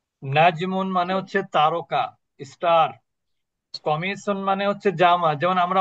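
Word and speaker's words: قميص: কি চেয়ার নাজমুন মানে হচ্ছে তারকা স্টার কমিসুন মানে হচ্ছে জামা যেমন আমরা অনেকে মহিলারা বলেন যে কামিজ আসলে শব্দটা কি কমিস কামিজ কোন শব্দ নাই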